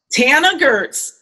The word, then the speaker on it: Tana Goertz: hear from the faculty how supposed to be pronounced Tana Gertz you're the teacher you are an American business